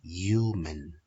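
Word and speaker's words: human: diikutkan guys water intense manusia dalam bacanya Yumen jadi hanya enggak usah diucapkan karena hal ini dalam bahasa Inggris masuk pada minute yaitu hanya menjadi bisu guys jadi manusia itu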